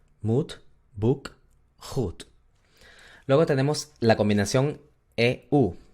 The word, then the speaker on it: goed: La combinación OE se pronuncia exactamente igual a la U del español. U, U, U. ¿Ok? Como en las palabras moed, boek o goed. Moed, boek, goed.